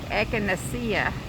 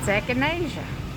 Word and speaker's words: echinacea: I thought it was like echinacea. And I was told it's echinacea.